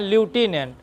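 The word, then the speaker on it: lieutenant: जगह है आपका मैं बताऊंगा लेफ्टिनेंट कर्नल यानी इसको कहते हैं लूटिनेंट मैट्रिक बताया था।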